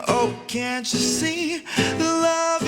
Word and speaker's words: Luv: I have to say it like that because if not, people always thinking it's L-O-V-E, but it's actually L-U-V.